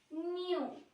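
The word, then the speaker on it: nu: धोखा मत खाना, वी नहीं है, वी तो हम ऐसे बनाते हैं, ये तो स्टाइलिश वी है। इस वी को हम कहते हैं न्यू, न्यू।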